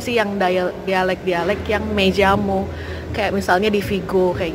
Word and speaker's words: llamo: Dibacanya tuh double L itu kayak Y. Tapi kalau di Amerika Latin dibacanya tuh kayak J. Jadi Tapi kalau kalau Spanyol, bahasa Spanyol yang Spanyol di negara Spanyol biasanya me llamo.